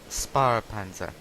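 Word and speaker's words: Spähpanzer: And if you don't know how to pronounce it, it's pronounced Sparpanzer. Because of that accent mark means the R.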